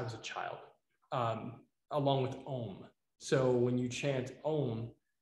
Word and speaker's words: Om: So om is often spelled O-M, but the actual pronunciation is A-U-M.